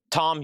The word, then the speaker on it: Thom: Was I saying Thom again? Did Has somebody let him know they he misspelled his name? Dude, somebody get a hold of Tom York and be like, "Hey, buddy." Radio Head dude. Radio Head dude. Hey, you misspelled your name. You put a You left an H in there accidentally. Let's go over here.